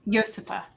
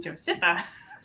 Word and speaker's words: Josipa: It's Josipa. Josipa. Mm-hmm. Sorry, I butchered your name. No worries. She was on my stream a while back, and I kept on saying Josipha, and I'm like, I'm probably saying this wrong.